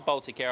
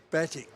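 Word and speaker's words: Batik Air: Oh, that's the Baltic Air I was talking about, Mick. Batik. Baltic Air, sorry. I'll pronounce it right.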